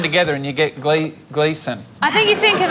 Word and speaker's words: Gleeson: my surname it's pronounced Gleason when you say the first bit try to think of glee the show on channel 10 which is and then